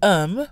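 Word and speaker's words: homme: une also note that even though um which means man starts with a consonant h h is silent at the beginning of words in french and many words that start with h though not all follow the pronunciation rules of words that start with vowels this is called a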